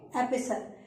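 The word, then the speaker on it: epistle: यहां पर टी जो है वो साइलेंट है और इसको हम बोलेंगे एपिसल।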